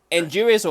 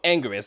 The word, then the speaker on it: Anguirus: the other is Anguirus or Anguirus. It's pronounced multiple ways.